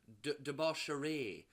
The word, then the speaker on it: Debauchery: And one of the women talking to them about shit her name is Debaucherie. But it's spelled debauchery.